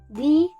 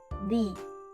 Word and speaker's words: thee: First, we start with the sounds where your tongue gently touches your front teeth, like in the word think. Then, we add a long E sound, like in see.